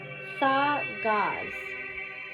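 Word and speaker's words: Dagaz: Oh, it's pronounced thaw gauze.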